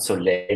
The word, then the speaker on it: Soleil: We pronounce it Soleil, like the French word for sun, because we want to move orthopedic insoles more into a happy space than being this old dusty thing.